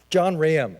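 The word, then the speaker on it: John Rahaim: How do I pronounce it? John Raham, thank you.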